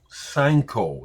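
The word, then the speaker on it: Sainkho: Sanko is how you say her name.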